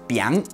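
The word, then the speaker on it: biáng: It has 56 strokes, and it is pronounced Biang.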